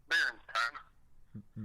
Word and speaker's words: Berenstain: Berenstain. Berenstain? The Berenstain Bears, yeah. Okay, with the ein.